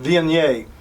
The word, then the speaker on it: Viognier: Number 18 is Viognier. Some pronounce it Viognier.